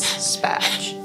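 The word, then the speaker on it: SPA²J: The squared is silent, so it says SPATCH.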